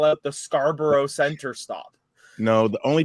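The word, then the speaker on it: Scarborough: is named after scarra but we pronounce it Scarboro so like I spent my entire childhood on trains that would call out the Scarboro Center stop no the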